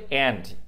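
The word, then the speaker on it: end: এন্ড সমাপ্ত করতে বন্ধুরা আমরা অনেকেই ভুল করি ইন্ড বলি এটা ইএন ডি কিন্তু এর সঠিক উচ্চারণটা এন্ড ইএন ডি এর সঠিক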